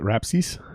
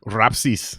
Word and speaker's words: Rapsys: how you pronounce it rhapsees no well okay so it's lithuanian is it so i didn't know this my whole life uh somebody else told me it's rapsis but i mean you